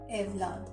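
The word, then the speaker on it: evlat: English में ई, Turkish में ए, अफसाने, अलविदा, इमानत, एवलाद। जहाँ पे उर्दू में औलाद है, थोड़ा सा अगेन मैंने कहा उसकी प्रोनाउंसिएशन और अदायगी डिफरेंट करके टर्किश में हम औलाद को बोलेंगे एवलाद।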